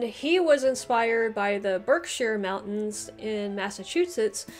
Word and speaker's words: Berkshire: was inspired by the berkshire mountains in massachusetts notice i said berkshire and not berkshire i have learned my lesson from my english counties video but basically all of